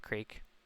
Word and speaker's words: creek: And yeah, I also started watching uh Dawson's Creek or Dawson's Creek, however you pronounce the last word, crick. Creek. I can only say creek.